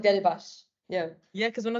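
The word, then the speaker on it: Delibaş: which is an SH. Right. So it's like Delibas.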